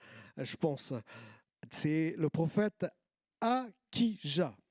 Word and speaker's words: Achija: pense c'est le prophète acquis ja alors je prononce acquis jamais ça s'écrit ashes à ou à kia on pourrait le prononcer comme ça aussi c'est dans un